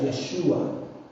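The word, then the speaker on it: ישוע: Este nombre Josué es un nombre hebreo, más o menos se pronuncia Yeshua.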